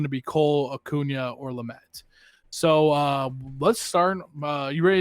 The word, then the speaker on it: Lamet: The rare cards are Garrett Cole, Ronald Acuna Jr., and Dinelson Lamet. Did I say that right? I'm so bad at pronouncing names.